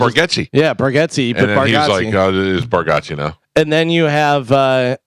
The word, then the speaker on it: Bargatze: It's strange, though, because didn't Nate Bargatze say that people were saying his name wrong? And then it's Bargatze.